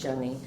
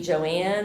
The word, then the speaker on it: Joanne: It is spelled like Joanne, but is pronounced Joanie. So, if you say Joanne, it's just I'm not being snotty.